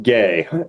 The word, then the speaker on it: Guay: Guay, and that's French Canadian.